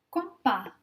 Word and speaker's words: compas: Compas, compas, compas. On voit la lettre S, mais à la fin du mot, donc le S ne se prononce pas. Le S est silent.